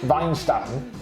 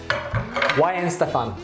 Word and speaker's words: Weihenstephan: you pronounce it i i would have said weinstein okay but that's completely wrong isn't it it is why in stefan why and stuff yen